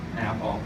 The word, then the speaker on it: Athol: central Massachusetts in a rinky-dink little town called Athol, A-T-H-O-L. All right, and yes, a lot of people would purposely mispronounce it.